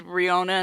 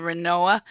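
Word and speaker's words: Rinoa: I don't know how many years I said Riona instead of Renoa in Final Fantasy VIII.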